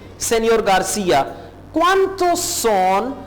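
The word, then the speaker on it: señor: Pedro, no सेनियोर। अब देखिए सेनियोर के पूरे स्पेलिंग है और एन के ऊपर एक मद सी है, एक टेल है, इस एन को आप प्रोनाउंस करेंगे नियर, नियर।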